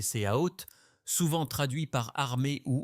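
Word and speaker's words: צבאות: Et puis il y a le mot hébreu original prononcé séaot, souvent traduit par armée ou hôte.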